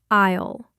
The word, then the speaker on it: aisle: The letter S in the middle of the word is completely silent. You just say it like aisle.